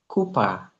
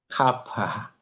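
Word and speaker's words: cuppa: If you have ever spend time in the in the UK, youl surely have had nice kupa. Kapa. It should be KA. Kapa.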